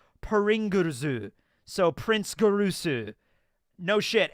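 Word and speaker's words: プリングルズ: Because Pringles in Japanese is pronounced like Pringurzu.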